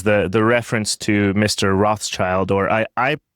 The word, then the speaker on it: Rothschild: Rothschild or I I I prefer to to use the the pronunciation rot shield the the German because it actually gets